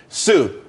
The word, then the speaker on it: Tsu: everyone could be happy Sue TSU it's pronounced Sue though that's that's a website.